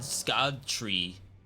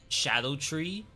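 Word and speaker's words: Scadutree: just I think one Scot tree people say it's actually pronounced Shadow tree like the C is pronounced as an H it's very very weird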